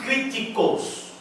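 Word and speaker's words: κριτικός: E esta palavra discernir vem de uma palavra grega, que poderíamos ler kritikos. Tudo com K, viu? Nada de quê? Kritikos. Que soa com o nosso equivalente à palavra crítico.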